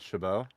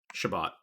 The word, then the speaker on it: Chabot: three in a row is it actually pronounced shabbat and not chabot shabbat i think it is shabbat yeah but